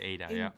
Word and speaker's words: Ada: Which is the way that it's pronounced in Germany, they would say Ada, in Germany they say Ada.